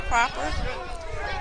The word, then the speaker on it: Proper: It's spelled proper. Pronounced Proper. Okay.